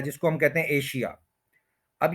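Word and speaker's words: Asia: सुने किसी नेटिव से तो वो बोलेगा ए और फिर या एज एजा एशिया जो है वो नहीं होगा एजा होगा एशिया वर्ड गलत है ठीक है कि अब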